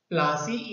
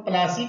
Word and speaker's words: Plassey: प्लासी इज an English side pronunciation of प्लासी एंड द प्लेस derivative it's name from the प्लास tree known for its beautiful